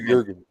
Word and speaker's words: Jurgens: Jurgens, I believe it's pronounced Jurgens.